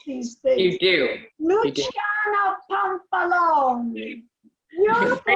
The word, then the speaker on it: Luciana Pampalone: Luciana Pampalone, is that the correct, way? correct. Yes, I'm yes. Italian, so that's why I know how to pronounce these things. You do. Luciana Pampalone.